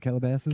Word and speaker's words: Calabasas: from Cass casa how do you say it Calabasas Calabasas thank you I have no idea when